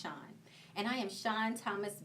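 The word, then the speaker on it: Shan: Totally, Shawn is spelled S-H-A-N, and it is pronounced Shawn.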